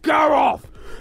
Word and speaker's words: Garroth: it's pronounced gar off go okay Larry try again gear